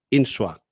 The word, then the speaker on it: Insua: leerlo y es Pedro insoa no he pronunciado bien perfectamente sin la tilde en la u es en general en